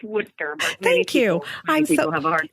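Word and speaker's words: Worcester: of the Holy Cross in Worchester Massachusetts did I pronounce that right Lisa no it's wood sir thank you I'm so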